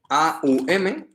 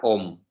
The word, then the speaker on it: Om: Entonces, se escribe A-U-M, se pronuncia Om. Aunque a veces hay algunos maestros que indican o que recitan o que cantan, recitan Aum.